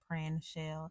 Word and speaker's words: Prinshell: I feel like I still have to say it's Prinshell from Houston because a lot of people still do not know how to pronounce my name. And it's like two syllables, y'all. It's like Prinshell.